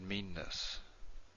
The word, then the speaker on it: meanness: If we were to pronounce it without a double N, it'd be something like meanness. Meanness versus meanness. They're really different things.